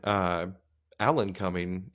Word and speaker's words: Alan Cumming: Speaking of coming, Alan Cumming is the name for Nightcrawler. Alan Cumming. It is spelled exactly how it sounds.